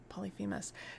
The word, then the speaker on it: Polyphemus: Polyphemus. The other one is spelled Phorcys.